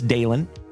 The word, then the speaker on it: Dalen: And my name is Dalen. D A L E N, like Dale plus N.